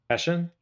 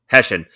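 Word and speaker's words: Hessian: So, how do you pronounce it, Chad? Hessen. Hessen.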